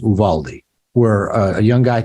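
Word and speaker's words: Uvalde: in a little town of I think it's pronounced Uvaldi where a young guy I think killed 19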